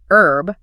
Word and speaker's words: herb: The American pronunciation actually faithfully follows the original French root of the word herb, where the H is entirely silent.